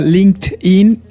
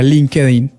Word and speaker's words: LinkedIn: Ok, en inglés la gente lo pronuncia LinkedIn, pero en español se sugiere que lo lean tal como se leería en español, que sería LinkedIn. LinkedIn.